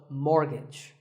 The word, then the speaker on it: mortgage: So which letter is silent here? It's the T. The first syllable is more and the second is gidge, so mortgage.